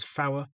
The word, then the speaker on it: four: three pronounced as tree, four pronounced as flower, five pronounced as five, six pronounced as six, seven pronounced as seven.